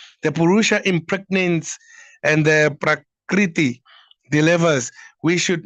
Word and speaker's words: Prakriti: Just as a is it how do you pronounce it? It ran off my tongue. Prakti. Oh, woman cannot put Prakriti.